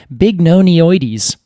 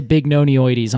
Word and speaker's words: bignonioides: Catalpa bignonioides.